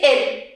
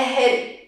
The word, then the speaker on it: hill: For example, here we're not going to say ill. I'm not ill. I'm talking about a hill.